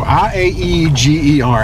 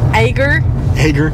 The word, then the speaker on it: Iaeger: All right, guys, we're pulling into Iaeger. How would you pronounce that? Well, you're cheating. If I didn't know. Yeah. Iaeger.